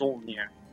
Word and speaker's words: Solnir: umlaut, it means that you have to draw out the O, so it's Solnir.